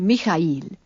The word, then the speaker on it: Mikail: Kir Mikail. He pronounced it as a tricy syllable.